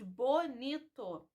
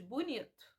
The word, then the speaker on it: bonito: Nós não pronunciamos ele, nós falamos ele. E não pronunciamos bonito, nós pronunciamos bonito.